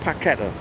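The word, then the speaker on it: Paquetá: called it which is with this bra it's packeta all right end the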